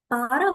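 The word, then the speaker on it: пара: Para, like a pair of 2 academical classes. So again, pronunciation would be para.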